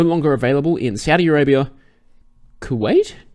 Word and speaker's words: Kuwait: So, advance tickets are now no longer available in Saudi Arabia, Kuwait. It's spelled K-U... Kuwait.